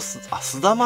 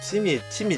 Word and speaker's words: すだま: これは人と、あ、スダマって読むんだ。これ、チミじゃないんだ。